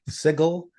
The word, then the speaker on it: Sigil: Sigil, the City of Doors.